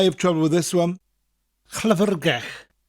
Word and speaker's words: Llyfrgell: Two double L's. One at the beginning, llyfr, and then one at the end, gell. Double L at the end is always pronounced slightly differently, more of a sound with a slight L.